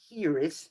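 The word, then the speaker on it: hiraeth: and it's actually pronounced here is you have to roll the the r it's a welsh word which means q nicole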